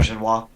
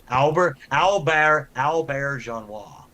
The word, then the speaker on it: Auberjonois: before he died, Rene Auberjonois. Is that how you pronounce his name? I'm not sure. Albert Genois. Yes. Yeah. Yep. Albert Genois.